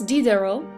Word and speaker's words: Diderot: Denis Diderot, the T is silent, is famous for compiling and editing the first encyclopedia.